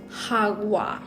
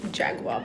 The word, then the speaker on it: jagua: mix some Jaguar also I found out what the actual pronunciation is um it's hogwa it's not Jaguar but it's so hard